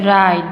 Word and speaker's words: right: is silent here and right we say right not right right is wrong we will say the right because w is silent here and knock we don't